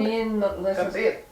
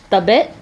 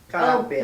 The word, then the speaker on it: kabit: Mama, what is a male mistress in Tagalog? Kabit. Tabit? What is a male mistress? Did I say it right? called? Tabit? Kabit. Oh, kabit.